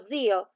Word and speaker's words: zio: We have words like lo zio or l'olio. In the first one, the accent is on the end, so lo zio, but l'olio has the accent at the beginning.